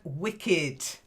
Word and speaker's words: wicked: And wicked. The E is pronounced, not Wicked.